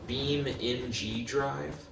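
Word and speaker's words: BeamNG.drive: keep rolling plain set basically is pronounced uh beam in g-drive but you're okay he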